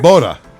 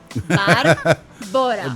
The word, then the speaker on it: Barbora: okay, so how do I break it down to people is you go to the bar. Barbora. And then you fly to Bora Bora once. Barbora.